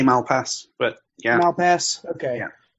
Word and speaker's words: Malpass: I say Malpass, but yeah.